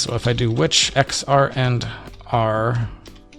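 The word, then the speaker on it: xrandr: missing start x so if i do which x r and r it's like i have to physically force myself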